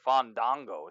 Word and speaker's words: Fandango: everything because I think Fandango is or fawn Dongo sorry I gotta pronounce it like that or else people get mad so on dongho I